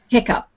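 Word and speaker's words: hiccough: that's a hiccup and a hiccup is spelled h-i-c-o-u-g-h hiccup go figure okay so let's take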